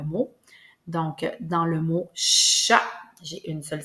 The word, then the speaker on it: chat: Donc dans le mot chat, j'ai une seule syllabe. Et attention, j'ai deux phonemil ne faut pas oublier que le ch qu'on connaît euh c'est un seul son hein, parce que l'enfant